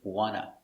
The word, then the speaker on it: want to: car today very good so remember there are three pronunciations for want to in most situations the best option is wanna i'm hungry i wanna